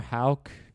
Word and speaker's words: Houck: I don't think any particular history was made other than Tanner Houck. Is that how you pronounce it?